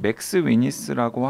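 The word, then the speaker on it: McSweeney's: 지금 저는 모르는 잡지고 그런데 보니까 영어 스펠이 맥도날드 할 때 맥에다가 스위니라고 하는 이 패밀리 네임 붙어 있어요. 맥 스위니스입니다. 두 분 다 지금 맥스 위니스라고 자꾸 발음하셔가지고 정정하겠습니다.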